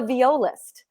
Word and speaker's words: violist: the show everyone and i kept putting the stress on the wrong syllable it's heart of the vo list yes yes i did it hearts of the viola like viola like the instrument okay tell us about